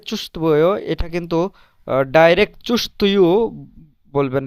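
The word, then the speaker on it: чувствую: তো চুস্তবয়, চুস্তবয়, এখানে এই যে চুস্তবয়, এটা কিন্তু ডাইরেক্ট চুস্তয়ু বলবেন না, চুস্তবয়। এখানে এই যে ভে, এই তের পরে যে ভে, এটার উচ্চারণ একেবারে সফট হবে, কিন্তু উচ্চারণটা চুস্তভুয় এভাবে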